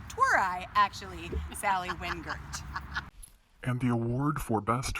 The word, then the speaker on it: Wingert: by my DP an editor on the proper pronunciation of my own name twere I actually Sally Wingert and the award for best friend and most